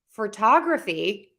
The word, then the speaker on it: photography: Photography has 4 syllables. Photography. Photography, that stress changed in one of those syllables. So we have photo, photograph, photography. So it kind of shifted to the end right there before the graphy.